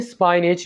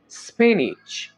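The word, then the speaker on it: spinach: स्पेनिश कहा जाता है इसको आपने स्पाइनच नहीं बोलना यह वर्ड होगा स्पेनिश सिरका को इंग्लिश में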